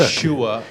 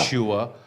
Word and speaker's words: Yeshua: Let's get back It to is- the pronunciation, why it's not Shua, meaning Yeah. Yeshua, because we're going to look at this feminine noun of Canaanite origin.